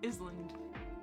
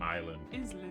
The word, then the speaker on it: island: I canoed around an island island island island island island island island island the S is silent island island 107 wow